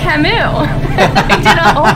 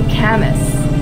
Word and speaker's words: Camus: here's me an intellectual I know how to pronounce this it's Camille I'm lying and Marco was like ah yeah that's actually Camus and I'm like oh